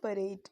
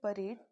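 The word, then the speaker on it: parade: तो सबसे पहले है परेड। एक तो मतलब हम नॉर्मली बोलते हैं इसे परेड, इसकी इंग्लिश में प्रोनाउंसिएशन इसका होता है पैरेड। ठीक है, आप थोड़ा सा ध्यान रखिएगा।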